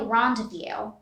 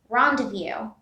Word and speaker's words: rendezvous: round of view it's actually rendezvous here the z is silent and the s here z and s are silent rendezvous our next word is